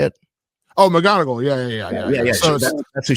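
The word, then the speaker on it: McGonagall: Um she playing Mongle. Is that how you say it? Oh, McGonogal.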